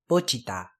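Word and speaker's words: Pochita: Next is the name of a demon, Pochiata. Pochiata. Pochiata. Remember, it's not Pochiata, it's Pochiata. Remember, all the syllables are pronounced the same, and you do want to pronounce that T. You don't want to say Pochiata.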